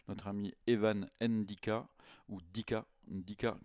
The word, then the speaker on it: Ndicka: Dica comme Mbappé sûrement, j'imagine. On prononce pas les premières lettres.